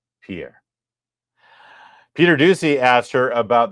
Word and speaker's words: Jean-Pierre: a karer that's the correct Haitian pronunciation Pier Peter Ducey asked her about the economy because